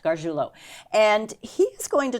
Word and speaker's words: Gargiulo: Correct, Gargiulo.